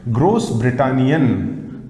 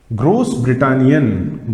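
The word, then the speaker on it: Großbritannien: german okay next one gross britannian pronunciation of this asset is same as that of letter double s that i have told you in alphabet's class gross britannian gross britannian this means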